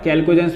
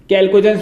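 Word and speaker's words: chalcogens: एक अलग नाम है, कैल्कोजेंस भी कहते हैं, ध्यान सुनना, कुछ स्पेलिंग होती है ऐसी, सी, हाँ, CHALCOGEN, कैल्कोजेंस भी कहते हैं इनको, ऑक्सीजन को, ठीक है।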